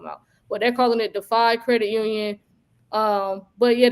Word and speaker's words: Defy: we be talking about, but they're calling it Defy Credit Union.